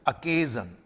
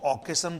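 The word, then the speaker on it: occasion: और इसका प्रोनाउंसिएशन भी ध्यान दीजिए, दिस इज अकेजन। कुछ लोग इसको ऑकेशन बोल देते हैं, इट्स नॉट ऑकेशन, इट्स अकेजन, अकेजन।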